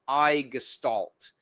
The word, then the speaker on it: i6estalt!: The sections of this system are based upon this word I6 estamation mark which is pronounced I gestalt.